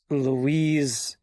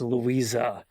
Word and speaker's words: Louise: print of this movie that Louise in German should really be pronounced Louisa. So we were way past the point of being able to fix that when I realized that, but it should be Louisa.